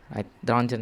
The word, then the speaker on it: Röntgen: Wilhelm Conrad Röntgen, Röntgen is how his name is pronounced, I hope, I think so, was a German physicist who was experimenting with cathode rays.